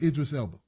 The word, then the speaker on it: Idris Elba: Excellent movie with Idris Elba.